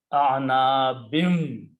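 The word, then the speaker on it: أعناب: kasras, and it becomes a'anabin. Okay, again, the vav is there. After that, so you pronounce a gunna with the shadda, anabim.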